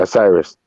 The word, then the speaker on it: Osiris: is it a rice how to say it osiris osiris thank you myth and a legendary fight